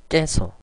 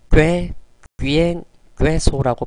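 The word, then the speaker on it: queso: 깨에 대해서 알아보도록 할까요 항상 깨 끼만 발음이 돼요 영어에서도 마찬가지죠 다음에 모음 죠 스페인어도 마찬가지예요 깨 다음에는 우가 옵니다 예이 점 유의해 주시고 발음해 보도록 할까요 깨 끼엔 깨소 가끔 가다가 꽤 귀 소라고 발음하시는 분들도 있어요 틀린 발음이에요 그냥 편안하게 그냥 깨 끼엔 깨소 라고 발음해 주시면 돼요 굳이 어 아이 이중모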